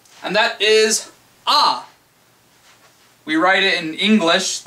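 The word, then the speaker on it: あ: order um okay here the first one is pronounced ah I'm going to get closer so you can hear a little bit better a a a just an a sound oh you know like an opera dude a to write that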